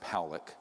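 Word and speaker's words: Pawelec: 600,000 views this man William Pock is pronounced poic uh was a man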